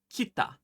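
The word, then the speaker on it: きた: And you would say it kita.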